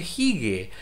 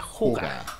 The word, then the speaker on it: hygge: primero quiero decirle que mucha gente cree que se dice jigue. Porque esto se deletrea H-Y-G-G-E, ¿ya? Y es una palabra danesa, y la gente cree que es jigue, pero se pronuncia juga.